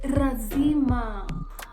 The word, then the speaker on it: lazima: For example, the word like lazima. How did you hear me pronounce it? Lazima. Lazima. It's a Swahili word that means a must, right? Lazima means a must. So Tanzanians, a lot will say razima.